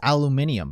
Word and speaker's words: aluminium: The That blue is aluminum. True, but there was no sign he was even at the break room. Hold on. Did you say aluminum? Did you say aluminum? It's pronounced aluminium, you uncultured.